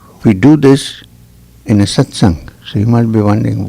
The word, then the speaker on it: satsang: know what is a satsang as opposed to just a talk now we need to look at the again at the meaning of the word mmm two syllables sat and sang sang sung sucked the